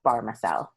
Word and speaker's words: Bahrmasel: it's not a straightforward one but it is pronounced barmacelle pharmaceutical perfect all right i've got ellie barmacel